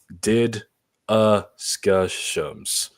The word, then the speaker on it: DDiscussioMs: If you don't know how to say it for some reason, here's the pronunciation: DDiscussioMs. So if you see this up top, that's what it is. So it's like discussions, but with my acronym With in your there.